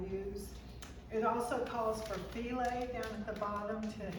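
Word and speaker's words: filé: It's spelled f i l e. So and it but you say file and I forgot to get some while I was there.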